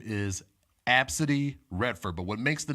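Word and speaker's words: Abcde: a five year old girl her name is AB City Redford but what makes the name interesting is how it's spelled it was one of the weirdest names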